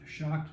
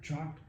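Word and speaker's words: CHOC'D: in the band, CHOC''D, pronounced shocked, not chalked, and we're going to change the name again, because we've got enough new members that the initials don't work anymore.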